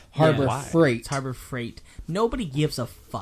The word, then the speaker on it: Harbor Freight: clothes just as content you were saying Harbor Freight but it sounded like fright no he was he was pronouncing a harbour fight yeah he pronounces it like that on purpose but it is Harbor Freight Harbor Freight nobody gives